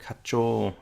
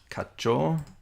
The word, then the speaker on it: 課長: Probably don't need to make it sound like it's a double syllable there. Kacho.